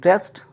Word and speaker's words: wrest: की बात करते हैं, WREST रेस्ट, ठीक है, और एक होता है REST रेस्ट। प्रोनाउंसिएशन में दोनों सेम है, ठीक है, प्रोनाउंसिएशन में दोनों ही सेम है कि रेस्ट और रेस्ट, ठीक है, रेस्ट रेस्ट दोनों का सेम उच्चारण हो रहा है।